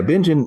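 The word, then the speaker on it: Bingen: in bingin Washington is that what how it's pronounced Ben Washington yeah bingin is not a huge town I think there's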